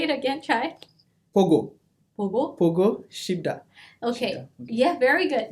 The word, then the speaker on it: 보고 싶다: But how do we pronounce it in Korean? Pogo. Yeah, okay. Pogo Shibda.